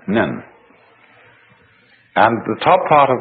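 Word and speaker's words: 忍: very interesting sign this it's pronounced in japanese nin and the top part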